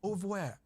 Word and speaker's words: oeuvre: Harold Abramson, an LSD pioneer, entered the MK Ultra oeuvre. How do you say that word? Oeuvre? Oeuvre. Oeuvre. It's a French word. It's like oeuvre.